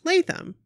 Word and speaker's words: Latham: block-party story hey Nikki abrooke its Latham pronounced Latham because almost everyone gets it wrong the first